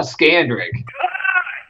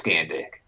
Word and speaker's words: Scandrick: Dude, his name is not Scandrick. Dude, seriously, please. Cut! His name is Scandick. That's his last name, dude. You got to say it like it's supposed to be.